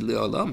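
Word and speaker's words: לעולם: You pronounce it Le'olam, but it means La'alim.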